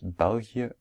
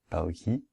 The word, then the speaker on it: België: Finally, we pronounce België and not Belgie, because there's two dots on the E.